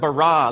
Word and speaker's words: bara: now the word for create is the word bara let me hear you say bara it's this forceful energetic word of making things out of nothing in the beginning Elohim barad the heavens and the earth now the earth